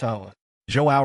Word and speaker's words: Zhao: For the 234th time, it's pronounced. Zhao responded with a playful frown. Okay, I'm sorry. Xiao Lucas added with a smirk. That's Chinese.